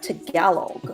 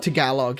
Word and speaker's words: Tagalog: Uh there's actually two of the boys from Hollars's English who speak um they pronounce as uh Talog. To Galog. Yeah. So not Talog to Gallog.